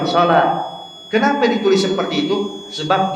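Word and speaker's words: صلاة: wau kemudian tak marbutah tapi kita baca salah bukan salw tapi kita bilang salat Kenapa ditulis seperti itu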